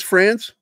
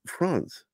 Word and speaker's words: Franz: Again, Dennis Franz, he was a real hardcore airborne ranger in Vietnam.